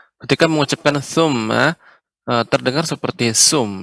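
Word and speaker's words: ثُمَّ: Summa la yamutu fiha wa la yahya. Ya. Ketika mengucapkan summa terdengar seperti sum ya, menggunakan tha, ujung lidah dengan gigi seri. Tha, sum, tha, summa. Ya, silakan ulang kembali.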